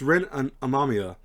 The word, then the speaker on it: Ren Amamiya: So it's Ren Amamiya, who they called the Joker in this.